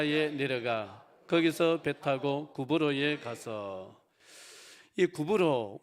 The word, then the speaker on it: 키프로스: 거기서 배타고 구로에 가서이 구불로 우리 성경에는 구불로 이렇게 해놨는데 에 원래 발음은 키프로스 지금도 키프로스 쓰고 있는데이